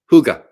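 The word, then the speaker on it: hygge: Huga. That's right. I knew it wasn't the way it looks. I knew it was phonetically pronounced different.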